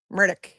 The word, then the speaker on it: Murdaugh: Alec Alec Murdoch. That's how he pronounces it.